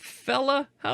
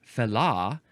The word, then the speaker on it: fellah: You can emphasize that syllable because we have now added an H to fella.